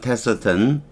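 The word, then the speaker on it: taciturn: 되고 테턴 어휘를 알아보죠 테턴 테턴 이렇게 바랍니다 테스 테어 어는 거의 발음이 안 되고요 테턴 테턴 이렇게 발음해도 괜찮아요 테턴 말이 없는 성격적으로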